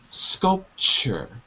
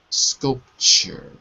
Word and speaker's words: sculpture: And the last word is sculpture. Sculpture. Sculpture. Good. Sculpture. That's it. So when you see the TU, it's pronounced like a CH. Chur. Sculpture.